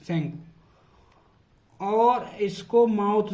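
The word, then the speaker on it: Tsangpo: इन तिब्बत में इसको बोलते हैं सेंगपो, टी साइलेंट रहता है, सेंगपो।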